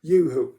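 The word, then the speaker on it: UHU: Yoo-hoo, U-H-U, I think that's how it's pronounced, how it's spelled, Yoo-hoo glue.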